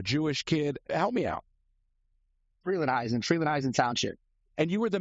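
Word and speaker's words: Frelinghuysen: Freelandheisen Township.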